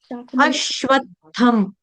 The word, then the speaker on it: अश्वत्थम: शाखम नहीं है शाखम अश्वत्थम ठीक है इसमें आपने स का उच्चारण नहीं करना है श का करना है शरबत वाला देखो फर्क है जब